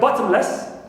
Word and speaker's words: bottomless: Less, like bottomless, clear, so less is neutral, and ba is stressed, as usual.